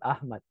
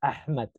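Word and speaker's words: أحمد: lot deeper like like when you cuff I'll pronounce it so when you say the name Ahmed is actually not Ahmed the real name is ahed so but but the closest sound to it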